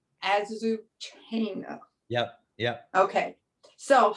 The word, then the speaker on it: Azucena: point of view, and I'm not going to pronounce her name right, Azucena. I can't do any of these foreign names well. That's okay. Azucena. Azucena.